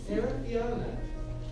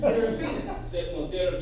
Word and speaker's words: Serafiana: Serafiana. All right. You pronounce it very well. Most Americans cannot pronounce my name. Serafina. You did it right the first time, Serafiana.